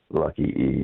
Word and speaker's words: Lucky E: So is it pronounced the Luck E Rodeo Company? Lucky E, yes. Lucky E Rodeo Company.